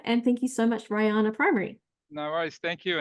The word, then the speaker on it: Rihanna: And thank you to the teacher that's watching, Karen Taylor, for letting me know that it's Rihanna, not Rihanna. I think it rhymes with high, so Rihanna.